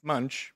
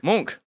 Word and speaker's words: Munch: It's Munch. It's not Munchausen. I assume. Friends knew it. I don't know. With my pronunciation, it could have been Munchausen. Oh, no. It's pronounced Monk. Edward Monk.